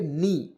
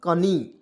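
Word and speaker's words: knee: देखिए इसमें क्या पढ़ेंगे के एन डबल ई तो इसे क्या पढ़ेंगे नी ना कि कनी तो देखिए के को इसमें हम लोग साइलेंट करेंगे क्या करेंगे के को साइलेंट कर देंगे और एन से होता है न और डबल ई से होता है बड़ी ई की मात्रा नी और देखिए नी मीस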